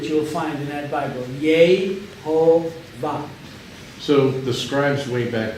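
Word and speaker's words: יהוה: But the pronunciation is steadfast. It has always been Yehovah. Yehovah.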